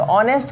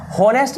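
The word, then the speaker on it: honest: ऑनेस्ट जो है ना, ऑनेस्ट है, ऑनेस्ट, ऑनेस्ट, ऑनेस्ट है, तो ऑनेस्ट का मतलब होता है होनेस्ट नहीं, ओ का उच्चारण हो रहा है, तो ओ का प्रोनाउंसिएशन वॉवेल होता है, तो वॉवेल के पहले एन लगता है।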